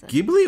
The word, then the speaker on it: Ghibli: It's Ghibli.